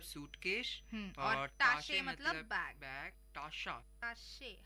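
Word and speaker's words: Tasche: यानी जैसे हमें पहले पता है कि टाशे मतलब बैग होता है, कॉफर मतलब सूटकेस होता है, ऐसे ही फ्लैशे मतलब बॉटल होता है, और गिपैक मतलब लगेज।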